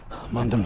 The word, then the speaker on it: Mundham: You got Loddon to the left, Mundham to the right. That's how you pronounce it.